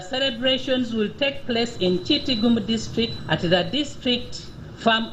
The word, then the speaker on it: Kitgum: Is it Kitgum or Kitgum? It's Kitgum. Okay.